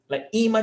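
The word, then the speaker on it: ímã: like a magnet, like imã de geladeira, those magnets that you put on the fridge. Imã de geladeira. No, so imã. Paroxítona, 2 syllables. Imã. Paroxítona terminada em acento.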